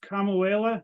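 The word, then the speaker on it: Kamuela: out on Hawaii I believe the town is kamauela is that how you say it Blake yeah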